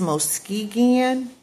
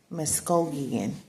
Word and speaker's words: Muskogee: the larger, it says, Muskegon Speaking Creek Confederacy. Muskogee. I think I said it right.